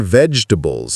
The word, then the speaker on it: vegetable: Did you know vegetable was only three syllables or have you been saying all four syllables this whole time?